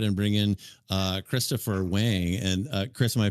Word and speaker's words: Wang: I a buddy of mine has the same last name and he says Wong. So I guess it could go either way.